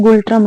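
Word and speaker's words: ngultrum: मुद्रा इसकी गुल टम यहां पर एम जो है वो साइलेंट होता है गुल ट्रम हम इसको पढ़ते हैं अब देखिए डोकलाम विवाद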